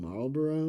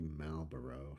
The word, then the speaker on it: Malboro: Uh, I think I just called them Marlboro, which is the cigarette company, but um it's actually Malbero, so I mispronounced them a bit.